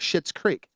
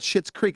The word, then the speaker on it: Schitt's Creek: I mean, there's other people that do that to get attention, like Schitt's Creek.